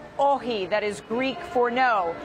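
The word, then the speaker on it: όχι: Morning The no poster say oxy it's not pronounce oxy It's pronounce Oh he that is Greek for now and then There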